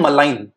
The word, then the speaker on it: malign: भाई दो वर्ड्स होते हैं, एक होता है बिनाइन, एक होता है मलाइन। मलाइन, देखो मलाइन की स्पेलिंग होती है MALIGN, मलाइन, और बिनाइन की स्पेलिंग यहां लिखी है।